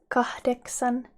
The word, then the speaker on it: kahdeksan: And 8 in Finnish is kahdeksan. Kahdeksan. Kahdeksan. Kahdeksan. Remember to pronounce the H at the end of the first syllable.